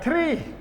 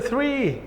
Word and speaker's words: three: Some of you, if I go back to the pronunciation, some of you pronounce the word three like tree, the tree. We take the shade of the three. No, say three, okay, three. So how many conjunctions we have so far?